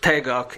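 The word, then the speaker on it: 태극: be complementary and interdependent taiji which is pronounced tagok in korean and taikyoku in japanese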